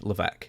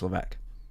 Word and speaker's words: Levesque: said Paul Triple H LC now his last name is spelled l a VES q q is that it yeah and it's LC yeah it doesn't even sound right that's French I mean the way